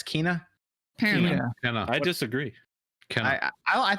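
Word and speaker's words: Kena: It's not Kenna, it's Kina.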